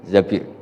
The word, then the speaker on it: Zabir: di di hadis ini bukan bacanya bukan zuber tapi Zabir Abdurrahman Bin Tsabit tapi